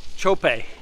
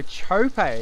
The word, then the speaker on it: Txope: mar oaks on saturday i'm not going to pronounce her but can you help us out with that firstly john chope all right there we go chope and when did she first come on your